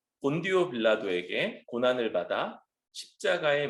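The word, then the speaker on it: Pontius Pilatus: 로마식 발음으로는 폰티우스 필라테스라고 하는 요 인물, 이 사람이 2000년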